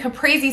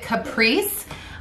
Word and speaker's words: caprese: some people also sorry some people also pronounce it caprice but in my family we always said caprese so traditionally it is